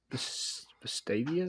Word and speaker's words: Vestavia: you pronounce it right Vestavia Stevia like the the uh sweetener stuff's good yeah Hills